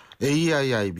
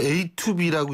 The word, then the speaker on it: AIIB: 그러니까 결국 AIIB 이것도 잘 읽어야죠. 이거 얼핏 보고 읽으면 A2B라고 읽는 사람도 있어요.